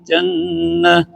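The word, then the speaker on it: جنات: Babashshiril ladzina amanu wa 'amilus sholihati anna lahum jannat. Bagus juga nih. Kenapa di sini? Jadi kalau ujungnya itu tak terbuka, itu berarti dibacanya ada hamas ya. Jannat, nat, dan umumnya pasti huruf sebelumnya panjang kalau tak gitu.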